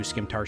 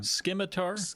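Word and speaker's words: scimitar: Is that how you say it? Skimtar? That's what I'm... Skimitar? Oh, Skimitar. You're probably right. Oh well. Fuck it. I'll start saying Skimitar now.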